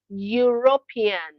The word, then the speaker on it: European: It is the sound of a consonant and that consonant is Y which is the pronunciation of the letter Y sound.